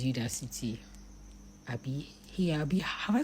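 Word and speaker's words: Udacity: I know that that's not the way they pronounce it. It's me. It's me that likes calling it Odac City, but it's Udac City.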